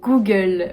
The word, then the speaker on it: Google: h m en 9 google goo goo comme le goût j'ai du goût j'ai dû google comme la gueule la tête j'adore faire ces vidéos